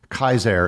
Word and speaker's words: Caesar: principia that being said there are other Latin words with a c that are usually not pronounced with a hard C Caesar and Cicero would technically be pronounced Kaiser and kikiro but we